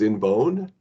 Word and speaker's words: INVOWN: The pronunciation is INVOWN. Yeah, INVOWN. And it's made up of invest and own.